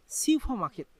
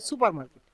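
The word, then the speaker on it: 슈퍼마켓: অনেকে আবার উচ্চারণ করেন যে সুপার মার্কেট, সুপার মার্কেট মানে সুপার মার্কেট না, সেটা হচ্ছে সিউফা মার্কেট মানে সুপার মার্কেট।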